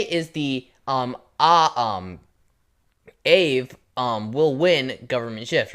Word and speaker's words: Aave: Now, it's spelled A A V E. I'm pronouncing it Aave cuz like when you when you say Aaron with a double A, you say air run.